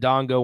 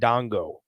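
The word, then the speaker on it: Ndongo: butchering that first name it's spelled b-a-y-e Bay in Dongo n-d-o-n-g-o so last name sounds right yeah unless the end is silent it's just Dongo that is also a possible that's also a possibility so who knows I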